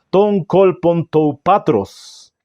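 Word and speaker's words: τὸν κόλπον τοῦ πατρός: Está en el seno del Padre, se pronuncia de la siguiente manera en griego, ton kolpon tou patros, que también podría traducirse regazo, uno de los dos, seno o regazo.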